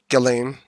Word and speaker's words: Ghislaine: Ghislaine.